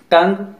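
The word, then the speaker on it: tongue: Silent letter you. टंग, league, antique.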